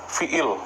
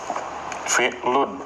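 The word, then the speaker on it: فِعْلٌ: Fi'lun ya. Kalau di sini ismun, kalau di sini fi'il ya itu dalam kajian disebutnya fi'il. Tapi pada dasarnya ee penyebutan yang benar itu fi'lun ya.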